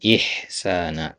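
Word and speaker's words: إِحْسَانًا: Nah, qiraah antum bagus tadi ya, cuman sedikit ini tadi koreksi ya diperjelas hamzahnya. Wabil walidaini ihsana i diperjelas i-nya.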